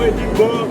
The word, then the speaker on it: Edinburgh: Let's go, Edinburgh. That's the correct pronunciation.